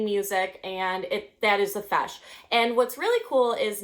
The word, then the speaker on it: feis: So it's actually pronounced a feis now, that's what we call it, and we still use that term today.